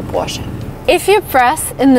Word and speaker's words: Porsche: warship by the way some americans say porsche which i think is really wrong because the car is produced in germany and in german you say portion if you press in